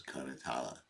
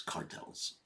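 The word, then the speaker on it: karatala: by bangas and karalas the right pronunciation is katala because we in this always say it's cartels because you be much more difficult to say caral can you play the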